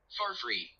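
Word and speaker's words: Farfrae: Alright, one second, I'm just taking pronunciation of Farfrey. Farfrey.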